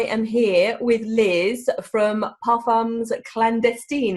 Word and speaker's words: Parfums Clandestins: here with Liz from Pam's clandestine is that how you pronounce it Liz I never know almost yeah paam clest clandestin yeah I as you can